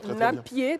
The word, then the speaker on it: Napié: Attends, il faut que je te donne la bonne prononciation. Napié, c'est très important. Oui, si. Napié Olodougou. Napié Olodougou. Voilà, Napié Olodougou.